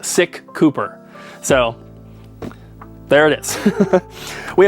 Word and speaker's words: SicCooper: which is Cooper so the YouTube channel name is technically pronounced sick Cooper so there it is